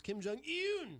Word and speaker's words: Kim Jong-un: The correct pronunciation, Glenn R.J. Ouellette, is Kim Jong-un.